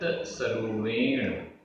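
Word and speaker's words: सरूवेण: कालमणन्तं कालमणन्तं जीवो जीवो मिच्छत्त मिच्छत्त आधा च छ आधता पुरता मिच्छत्त सरुवेण सरुवेण र में बड़े ऊ की मात्रा है। मिच्छत्त सरुवेण पंच संसारे संसारे पंच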